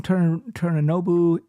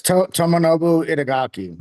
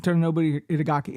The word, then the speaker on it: Tomonobu Itagaki: Torinobu.